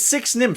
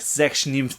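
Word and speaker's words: Sechs nimmt: It's Six Nymph from Amigo Games. Now, I know it's actually pronounced like Sechs Nymph or something like that, but I'm just gonna say Six Nymph because I'm not German.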